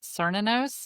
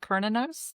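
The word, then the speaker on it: Cernunnos: Cerninos, not Kinos. That's Anita. That's how Anita says it's pronounced.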